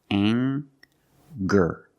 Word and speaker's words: anger: We have the nasal sound plus the hard G, the G sound. Together, anger. Anger.